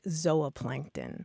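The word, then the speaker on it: zooplankton: going on here well the super traditional scientific uh pronunciation would be a long o sound like zoa Plankton or zoology and the reason is that they go back to a Greek stem that means animal that um gives us that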